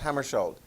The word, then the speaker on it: Hammarskjöld: I've had some people with Norwegian background and so forth that say that is pronounced Hammarskjöld.